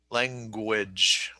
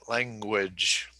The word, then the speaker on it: language: So the back of your tongue is in the back of your mouth going up, and you're saying, lang. And then the second G is g, gu, and the GU is gu, language, language. Okay. So work on those G sounds, language. Okay. And finish with a J, language, language.